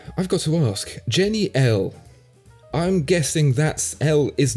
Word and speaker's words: Elle: So he told me Elle is French for like she, like female, mm-hmm. like a pronoun. Mm-hmm. Yeah. And it also sounds like how we in German would pronounce, and I guess in English, the letter L, yep. which is the first letter of my last name.